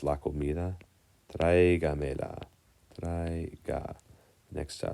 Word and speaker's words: traiga: Traiga. Next syllable is trae. In the word traiga, we accent the A.